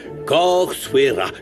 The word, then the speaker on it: Corsuera: Vous avez bien entendu les filles, Corsuera comme ça se prononce, comme la maîtresse maison.